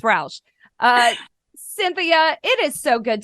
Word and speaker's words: Rausch: I'm still going to call you ranch dressing, because if you spell it, it looks like ranch, but it's not. It's Rausch.